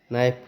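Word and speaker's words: knife: हुआ के साइलेंट है नाइफ प्रोनाउंस हुआ कि साइलेंट है नॉलेज स्टार्ट हुआ ठीक है तो इन सभी लेटर में क्या देखा गया इन सभी लेटर में देखा गया कि फर्स्ट लेटर्स के जो है वो क्या है साइलेंट है के का प्रोनंसिएशन नहीं हो पा रहा है ठीक है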